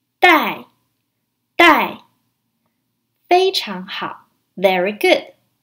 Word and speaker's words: 戴: it means to wear it's pronounced in the fourth tone let's break down this word the I die in the fourth time die die die HM ha very